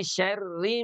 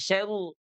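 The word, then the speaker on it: شَرِّ: Makanya dia tipis tuh ya. Minyarri maa khalaq. Min syarri maa khalaq. Tidak syaru.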